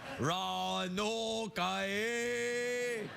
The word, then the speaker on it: Roanoke: and Roanoke in Virginia is it ruined oh ker-rah no lokai that's the proper pronunciation is Ron okay Ron okay that's what